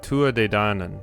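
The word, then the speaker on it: Tuatha Dé Danann: Ah, Tua De Danann. Thank you. Somebody finally pronounced that for me.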